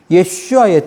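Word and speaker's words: ישוע: 원래 오리지널 발음은 예슈아이거든요. 예슈아의 뜻은 구원이란 뜻이에요.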